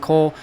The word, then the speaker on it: KUHL: If you've never heard of it, it is called KUHL, and it's pronounced Cole.